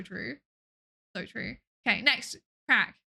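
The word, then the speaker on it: craic: Crack. This is pronounced crack.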